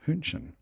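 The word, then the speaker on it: Hähnchen: book thinking oh no chicken is pronounced hunchun pork is pronounced Shinken so we were getting exactly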